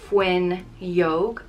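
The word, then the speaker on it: fhuinneog: means close the window it's pronounced fuen yog we use fun yoga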